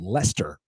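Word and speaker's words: Leicester: like south of us is a town called Lester spelled l c h s t r how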